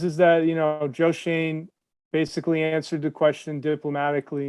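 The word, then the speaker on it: Schoen: them well they said josh shone pronounced shane joe shane said that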